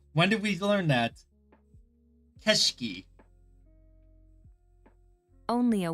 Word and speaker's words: 景色: Keshki. Okay, I don't remember ever learning that. I honestly don't remember learning that at all. When did we learn that? Keshiki.